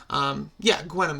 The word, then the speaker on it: Gwenom: And then the Gwenpool, or excuse me, the Gwenom, Gwenom is how it's pronounced, when she's like Gwen and Venom.